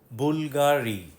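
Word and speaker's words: Bulgari: বুলগারি, ছবিতে যেটাকে ভি মনে হচ্ছে ওটা আসলে ইউ।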